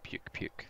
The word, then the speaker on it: Pukei Pukei: Japanese name I guess I was just picky picky but it's like puke puke it's spelt like that